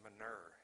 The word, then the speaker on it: manure: I had actually learned how to say manure when I moved there. It's actually pronounced manure if you're in the Midwest.